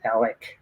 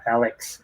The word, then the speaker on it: Alec: own faux pas is I was calling you Alec, right? Alex, and instead of Alec. Yeah. Okay. I have family that get my name wrong, so it's okay. Yeah, and you told me, Ron, it's like smart Alec. That's how you say it.